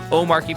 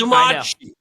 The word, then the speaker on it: Omarchy: pronunciation, that's what is "Omarque". Okay, what What happened to the R? Where did the R go in that? You swallow it as a proper Dane.